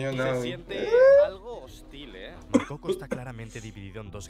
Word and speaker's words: Makoko: How do you pronounce it? Makoko.